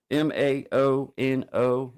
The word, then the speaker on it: Maono: And then this it's a Moano, I think is how you say, or Muano. Maono.